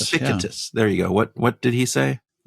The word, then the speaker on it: Epictetus: Epictetus. Epictetus.